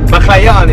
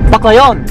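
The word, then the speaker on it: Baclayon: So what's the correct way to pronounce it? Baklayon is big forward. Baklayon?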